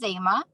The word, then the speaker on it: Zema: butcher your name but zima or zema how do you say your name i just wanted you to introduce yourself and like what are you doing post-graduation okay so uh my name is zema um i was in